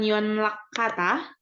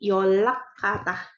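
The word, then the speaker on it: 연락하다: ada beberapa peraturan ya Jadi kalau dilihat di sini ada n yang ketemu sama R nah n ketemu sama R itu dia berubah jadi l dan l cara bacanya Ya n dan R bertemu itu menjadi l gitu cara bacanya aja ya Jadi bukan Yon lak kata tapi yolak kata yolak kata gitu artinya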